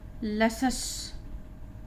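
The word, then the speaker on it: luscious: और ये है लसस, यहाँ पे आ का उच्चारण हो रहा है। SCIOUS को हम हमेशा सस पढ़ेंगे, यहाँ पर भी हमने ये सस पढ़ा है, SCIOUS सस। तो यहाँ पे कॉन्सस, यहाँ पे लसस।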